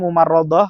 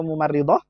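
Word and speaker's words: ممرضة: Nah, dibacanya mumarrodoh atau mumarridoh? Mumarridoh. Naam, mumarridoh. Naam, taib.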